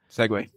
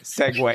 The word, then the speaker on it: segue: move on I guess segue hey we're in week number seg he just say seg sometimes you can just say segue if there's no good